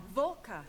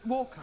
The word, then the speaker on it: Walker: A W is pronounced. Your employer's name is Walker. Yeah, Vuler.